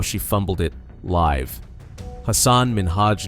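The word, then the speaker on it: Hasan Minhaj: And it's Hassan Minaj. Yes. No. Really? Well, my name is Hassan Minhaj.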